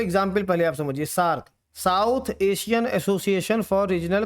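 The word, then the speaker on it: SAARC: सार्क बन गया।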